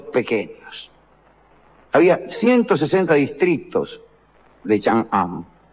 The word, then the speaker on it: Chang'an: Las 2 capitales imperiales del Imperio Han, Chang'an y Luoyang, lo pronuncié mal, es Chang'an y Luoyang, tenían una población de 250.000 la primera y 195.000 habitantes la segunda.